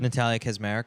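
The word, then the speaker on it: Natalia Kaczmarek: How do we pronounce the Polish girl's name? Natalia Kazmarek.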